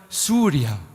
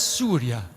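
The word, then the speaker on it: سوريا: you hear in English is pronounced differently in our native Arabic language it's actually Surya means the sun god all Arabic countries pronounce it as Surya so I'm happy to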